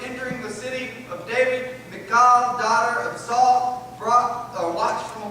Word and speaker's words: Michal: For Mike, we'll call her Michael, because the correct pronunciation is just difficult for me. Michal, but we're going to say Michael.